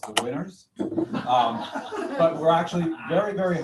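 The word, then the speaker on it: Whinners: are to you member our team is pronounced the winners but we're actually very very humble it's it's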